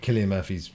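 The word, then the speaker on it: Cillian Murphy: an exhausting day looking at um it is Killian Murphy isn't it Killian Murphy's as in how you pronounce it just his giant face on IMAX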